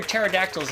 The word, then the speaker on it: pterodactyls: Why don't you hear pterodactyls in the bathroom? The P is silent.